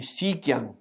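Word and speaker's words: Xi Jiang: स्पष्ट हो रहा है कि सीक्यांग हम लोग प्रोनाउंस करेंगे सीक्यांग।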